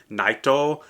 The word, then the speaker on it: Nightow: and by the way it is spelled and pronounced naito but I'm sure he is stylized it into